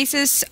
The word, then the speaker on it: Asus: is that that you bought I do the asus is it ROG Maximus Seuss oh my half